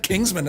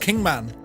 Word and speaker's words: Kingman: of kingman or kingman i thought i said kingsman it's like hey kingsman we're going to kingsman but it's actually pronounced kingman ah but at the same time oh and